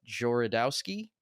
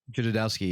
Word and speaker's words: Jodorowsky: always heard about, and I'm going to butcher the dude's name, but like Jorodowski, is that how it's pronounced? Jodorowsky, yeah.